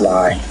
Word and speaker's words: Li: Well, my name is not Lai. It's actually Lionel. But, everybody has a jerk name, so I just cut it, so. But, anyways, yeah. But it's pronounced Lai.